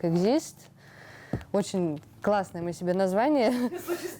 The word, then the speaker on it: Exist: И в сочетании это слово читается как Exist.